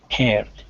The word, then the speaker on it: heard: Beware of heard, a dreadful word that looks like beard and sounds like bird, and dead, it is said like bed, not bead.